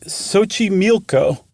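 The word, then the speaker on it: Xochimilco: It's Lake Sochi Milco. And friends, look up Sochi Milco. It is not in any way, shape, or form, as far as an English speaker is concerned, spelled like it's pronounced.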